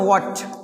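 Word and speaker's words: watch: इसको मैं बोलते है वॉच क्या बोलते हैं अब देखिए यहां पे क्या है यहां पर मैच करीब-करीब क्या होता है साइलेंट होता है अब देखिए यहां पे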